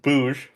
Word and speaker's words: Booj: It's pronounced Booj, first of all, not Boog.